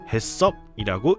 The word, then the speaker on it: HACCP: 작년에도 교육드렸지만 한글로는 햇섭이라고 읽습니다. 햇섭을 도입하게 되면 기업은 위생적이고 안전한 식품을 제조, 소비자는 안전한 식품을 제공받을 수 있는 기회가 생깁니다.